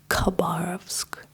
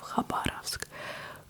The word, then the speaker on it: Khabarovsk: A lot of people pronounce his name as Khabib, because it's spelled like in English Kha, but they made this Kha to emphasize the different pronunciation of the Russian h, but instead people just started pronouncing it as k. Khabarovsk instead of Khabarovsk, Khabib instead of Habib, and so on.